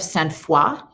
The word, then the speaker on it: Sainte-Foy: This is the Church of Sainte-Foy.